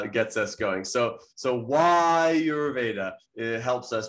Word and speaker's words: Ayurveda: of friends and colleagues who still pronounce the word are you veda and and the the word is not are you veda it uh gets is going so so why you're veda it helps us pronounce